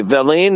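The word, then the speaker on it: villein: want to make certain that I um okay Vine is spelled v i l l e i n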